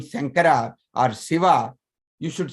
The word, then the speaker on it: Shiva: Maybe people in your life, whenever you have named somebody, whenever you heard about name Shankara or Shiva, you should say not Sava, not Shava, Shiva. Shankara, Shankara, from the middle of the mouth.